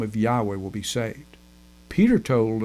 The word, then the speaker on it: Yahweh: this name is important about the correct pronunciation I believe that Yahweh is correct I say Yahweh in the United States I'm not really worried about this the correct pronunciation I think I've got it right I'm pretty sure I've